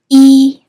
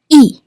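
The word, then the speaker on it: 一: The number is usually pronounced with the first tone e. However, in yay junju na I pronounce it with the fourth tone e.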